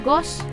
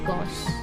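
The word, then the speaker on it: goes: kok disini termasuk huruf vokal maka ditambahnya bukan Ghost tetapi tulisannya menjadi Gowes dibacanya Ghost begitu beda lagi ketika misalkan Ibu menggunakan kata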